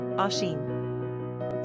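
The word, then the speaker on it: Oisín: number of syllables two ranking popularity not applicable pronunciation Asen simple meaning little dear characteristics of oison social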